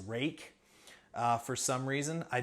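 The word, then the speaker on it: Ruike: apparently this is this is supposed to be pronounced rake uh for some reason i don't know why but this is the uh the rake p801sf um let's see what was the steal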